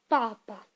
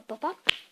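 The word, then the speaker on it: папа: En français, on dit papa, juste P-A-P-A, quoi, papa. En russe, on dit papa. Donc, papa. En gros, le premier syllabe, on le prononce plus longtemps.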